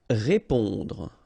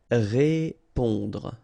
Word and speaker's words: répondre: Répondre. Okay, remember, accent aigu like that. So when the accent is going in that direction and it's just above the it will produce the sound E. Répondre.